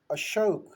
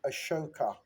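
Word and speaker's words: अशोक: So when the British arrived, they had a tendency of putting an A as a suffix in all of our names, in all of our titles.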